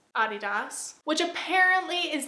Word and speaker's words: Adidas: In my last video I pronounced Adidas. Adidas. Which apprently is the correct pronunciation because the founder is German. But in America we pronounce it Adidas and it a lot